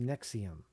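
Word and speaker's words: NXIVM: a secretive group called nexium and xiv and pronounced nexium headquartered in Albany New York Wow gotcha gotcha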